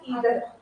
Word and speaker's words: either: आइदर या ईदर आप choose में कंफर्टेबल हो, बहुत प्रोनाउंसिएशन आता है।